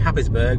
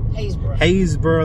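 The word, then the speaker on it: Happisburgh: across to the uh as I pronounce it habisberg what was it actually called hayesboro Lighthouse it's spelled habisberg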